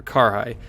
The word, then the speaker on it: Carrhae: a closer look at the battle of Kerry or Karai, depending on which way you want to pronounce it.